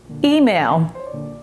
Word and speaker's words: Himel: Here's last name that people tend to get wrong, Himel. Doesn't look like that's how it's spelled, does it?